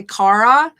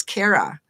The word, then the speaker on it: Cara: pronounce my name wrong people say cara and it's kara so i really want